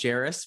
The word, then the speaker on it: Jairus: mentioned my name is jairus pronounced just like paris but with the j and my last name